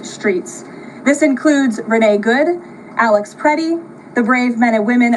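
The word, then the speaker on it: Alex Pretti: This includes Renee Good, Alex Prey, the brave men and women of federal law,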